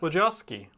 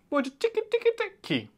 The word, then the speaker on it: Wojcicki: Wojcicki. Wojcicki? Wojcicki.